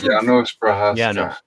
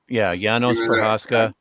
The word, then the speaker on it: Janos Prohaska: If I may, his name is pronounced Janos Prohaska. Janos Prohaska.